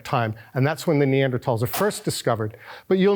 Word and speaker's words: Neanderthal: it's discovered in the neander tal or the neander valley that's where the name neander tal comes from it's never Neanderthal because that's just not how you pronounce it in Germany in German so it's the neander